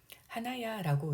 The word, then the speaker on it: 花屋: 일본어 한자는 하옥이라는 한자를 쓰고 있습니다. 하나야라고 읽고요. 하나가 꽃인데 얼굴에 있는 코도 하나라고 읽습니다.